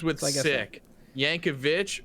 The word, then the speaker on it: Yankovic: Yankovic rhymes with bitch.